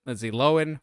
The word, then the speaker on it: Lindsay Lohan: Lindsay Lohan now and yes that's how you pronounce it Lindsay Lohan which is just sounds weird to say but